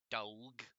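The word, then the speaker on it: dawg: and hello um russian dog and i am reading that correct and i did pronounce that correctly because he has spelled it d-a-w-g so dog that do sound interesting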